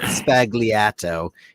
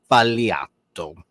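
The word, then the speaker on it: sbagliato: you make it right it's not spagliato it's paliato yeah you're the expert you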